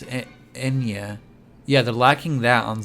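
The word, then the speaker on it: eñe: The Spanish letter Enya, pronounced Enya.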